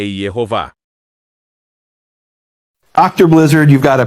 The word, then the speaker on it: Yehováh: do Novo Testamento, ele afirma que a pronúncia do tetragrama para o nome de Deus é Yehová.